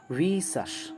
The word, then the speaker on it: vicious: और वाइस की एडजेक्टिव है, प्रोनाउंसिएशन बहुत इंपॉर्टेंट है इसका, VICIOUS, right, and it's pronunciation is वीशस।